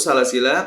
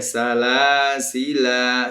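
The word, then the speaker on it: سلاسلا: Jadi khusus salasila ketika berhenti di sini ada dua model, dua wajah. Boleh salasila seperti kawan-kawannya ana, kemudian juga boleh salasil. Ya, salasil. Seperti itu khusus untuk pelafalan salasila.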